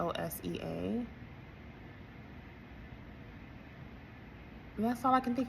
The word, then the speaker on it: Hosea: Hosea, I think I pronounced that correctly. It's Hosea.